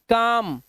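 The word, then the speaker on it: calm: इसी तरह से एम से पहले आएगा तो भी साइलेंट है, जैसे काम, एम से पहले आया बाम, एम से पहले आया तो पाम, पाम मैंने हथेली, देखो यहाँ पर।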